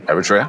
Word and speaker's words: Eritrea: we have never spoken to a company from Eritrea or Eritrea. Am I pronouncing it right? Eritrea, yeah.